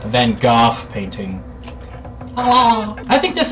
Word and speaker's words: van Gogh: Gogh as I've recently found out that is pronounced van Gogh painting oh I think this is it this